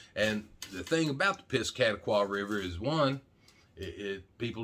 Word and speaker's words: Piscataqua: hampshire and maine and all that but anyway piscataqua that's actually the way it's pronounced even though i'm from arkansas i know